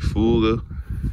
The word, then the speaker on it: Fogo: Fogo.